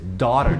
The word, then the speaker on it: daughter: Daughter, ninguém fala daughter, não, é daughter, daughter.